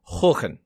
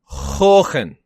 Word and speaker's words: Haakon: Harkon, which I'm told is pronounced Håkon. Håkon.